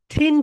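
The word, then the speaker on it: thin: এটাকে আমরা টিন বলি, এটা হবে রাইট প্রোনাউন্সিয়েশন হবে ঠিন, ঠিন, ঠিন, ঠিন।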